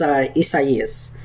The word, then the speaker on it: Isaias: I think it's Isaias, I think is how you say it. I think it's a Spanish name.